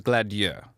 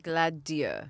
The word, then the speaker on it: Gladieux: official pronunciation, according to the French producer, is Gladieux. Okay. Gladieux. I'm not gonna pronounce it that way though.